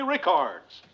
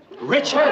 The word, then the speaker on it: Richards: to our own Mary Rickards. Richards! Her name is Richards!